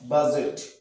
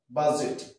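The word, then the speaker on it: budget: ইউ ডি জি টি বাজেট বাজেট আমরা ডি এর উচ্চারণ করছি না ঠিক আছে তাহলে জি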